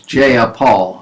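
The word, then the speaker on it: Jayapal: from Milla J a No her name is not J is jeyapaul I separated the syllables because I didn't know how to pronounce it from Millard jeyapaul anyway she's from Washington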